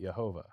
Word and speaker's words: Jehovah: But in German to this day, if you were to write J E H O V A H, Jehovah, they would pronounce it Yhovah.